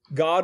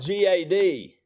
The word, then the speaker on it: Gad: That's spelled G-A-D. And we pronounce it Gad, not God. And cry foul you may. But the simple fact of the matter is that, first of all, in Hebrew, your vowels are the same as they are in Spanish. They are A, A, E, O, U. Okay? And G-A-D is pronounced, the A in G-A-D is ah. It's an ah sound.